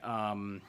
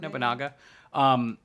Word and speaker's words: Nobunaga: Tobiel's, I think, are a little more necessary in No Limit because we're running Nobunaka. Was that how we pronounce it? Nobunaga.